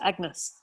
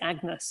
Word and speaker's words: Agnes: a dairy to my daughter agnes or any as it would have been pronounced then and i i'm so